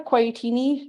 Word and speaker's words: Quaiattini: Yeah, so I am Quaiattini. It also rhymes with tortellini, if that helps you remember me.